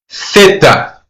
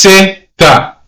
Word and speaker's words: zeta: So if you're born and raised in Spain, you're going to pronounce the letter Z as theta. But if you're born in Latin America, you're going to pronounce the letter as zeta.